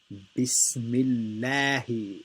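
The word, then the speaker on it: بسم الله: So this lam here is light. The right way to say it is Bismillahi.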